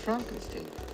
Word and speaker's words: Frankenstein: Frankenstein. Frankenstein. You're putting me on. No. Oh my god. It's pronounced Frankenstein.